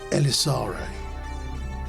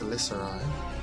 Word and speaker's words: Elisari: And he says, "You said Elisare. I know that name. It's actually pronounced Elisari, but yes.